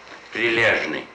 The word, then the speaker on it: прилежный: Не дождь, прилавок, прилежный. Diligent. You are too diligent, gentlemen. Which means прилежный in Russian. Not so easy to pronounce for you. How do you say it? Прилежный.